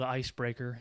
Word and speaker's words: Icebrekr: my latest uh Venture it's called ice breaker it's spelled differently it's IC B re KR so first two e's